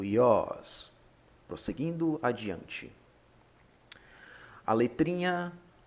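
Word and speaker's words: υἱός: iOS que significa filho alguns gramáticos pronunciam como Rios Rios errado não Como já disse mas aqui vamos respeitar os acentos então será o iOS prosseguindo adiante a letrinha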